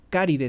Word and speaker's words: Caride: a shb Ignacio Card caride se dice se escribe como caride Ignacio caride el ceo